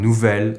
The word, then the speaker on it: nouvel: Ami here is masculine but because it starts with a vowel, with these specific adjectives we use the pronunciation of the feminine adjective while writing it as a masculine with a single L.